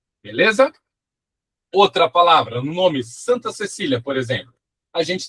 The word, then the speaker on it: santa: Outra palavra, no nome Santa Cecília, por exemplo, a gente tem a palavra santa, ó. S an. Esse an que a gente tem aí, ele é um som só.